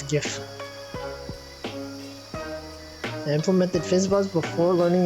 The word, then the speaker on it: GIF: guy who invented the gif he says it's pronounced jif but i refuse it's gif it's giff i implemented fizzbuzz before learning about string yes